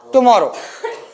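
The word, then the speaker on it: tomorrow: देखो, आप जब टुमारो बोल रहे हो, एक ध्वनि क्या आ रही? टू, एक मॉ, टू मॉ रो, 3 शब्द में आ रहा है, 3 टुकड़ों में ऐसा आ रहा है ना?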